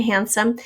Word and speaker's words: handsome: a tough one because we don't really hear the d in handsome and we also we